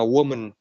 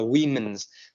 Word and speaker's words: women: phụ nữ, nhưng mà woman thì sẽ là danh từ số ít và phát âm là woman. Còn khi mà danh từ số nhiều là cái từ này là cái từ này thì chúng ta sẽ phát âm là women's, thì chúng ta không phát âm là woman, chúng ta sẽ phát âm là women's day.